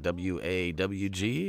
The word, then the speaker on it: warg: one to say because it's spelled warg but it's like like w-a-w-g is pretty much how they say it huh i don't know